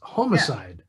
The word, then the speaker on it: homicide: home sweet homicide right there's no pun in the title if you pronounce it home sweet homicide yeah see so it's homicide home sweet homicide so